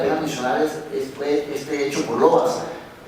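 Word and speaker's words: Lovaas: Entonces el primer ensayo clínico importante que vale la pena mencionar fue hecho por Lowas, o Lowas, como él decía que lo pronunciara.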